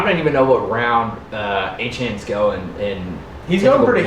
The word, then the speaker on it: Etienne: Is it It's Etienne.